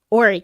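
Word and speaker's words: Horry: really I like I ory county the H is silent okay yeah but but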